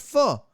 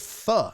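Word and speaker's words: phở: It's pronounced pho, not pho. F-U, pho.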